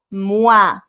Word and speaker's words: moi: La OI se pronuncia como UA.